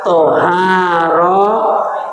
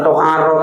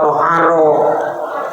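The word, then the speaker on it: طهارة: Yang benar bacanya thaoharah. Jangan tharoh. Thaaharah.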